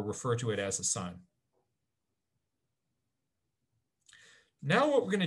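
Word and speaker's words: cyme: special word for this this is called a sign c y m e and so um we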